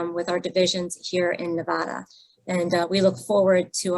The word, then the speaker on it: Nevada: Brown should have explained to you that it's Nevada. Out here, we take great pride in how you pronounce the state.